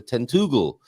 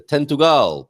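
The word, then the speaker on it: Tentúgal: Uh the and I called it the tentugal and it's the tentugal because the accent is on the U there.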